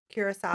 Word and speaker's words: Curaçao: from Curacao. Yes, Am I yes.